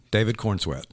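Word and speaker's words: David Corenswet: sweat corn sweat uhhuh David Corn sweat corn like corn sweat like a sweating corn on the cob wow from Kansas yes from Smallville uh David Corn sweat looks like the portrayal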